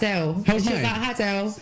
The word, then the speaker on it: Adele: said my name perfectly he came and asked me how I say my name and I was like Adell they do Adele Adele